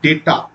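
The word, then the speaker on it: data: telecom and ডাটা analysis একচুি উচ্চারণটা কিন্তু ডেটা অবশ্যই উচ্চারণটা হচ্ছে ডেটা তাহলে এটাকে কি করে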